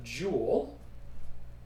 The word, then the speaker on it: Joule: own name so that unit we call a jewel but it's after a person's last name so it's not spelled like it's something that includes gems and precious metals and whatnot but it's